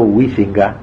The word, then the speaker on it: Huizinga: Hay un pensador holandés, protestante creo, llamado Huizinga se dice, pero nadie lo pronuncia así, Juan Huizinga, que escribió un libro que se llama así, Homo Ludens, el hombre que juega.